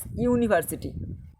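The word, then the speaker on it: university: ইউ আছে, Yuta ভাবেলে, কিন্তু উচ্চারণ হচ্ছে কার মতো? ইউ এর মতো, ইউনিভার্সিটি। ভালো করে উচ্চারণ তোমরা নিজেরা করে দেখো, ইউনিভার্সিটি ইউ এর মতো উচ্চারণ হচ্ছে, তারা কি বসবে?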